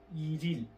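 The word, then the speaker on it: 일일: ইরিল, ইল ইল কে বলা হয় ইরিল, উচ্চারণ একসাথে করলে হয় ইরিল, ইল ইল ইরিল।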